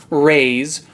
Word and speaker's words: Rayse: If we take off the M from his name we just get raize, R-A-I-Z-E which is pronounced the exact same as Rayse, R-A-Y-S-E which happens to be Odium's name before he became Odium.